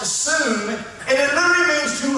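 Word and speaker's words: שׂוּם: And that little word purpose comes from a Hebrew word, sum, S-U-W-M, pronounced sum, and it literally means to appoint, to set a standard, to not diminish, not to sway.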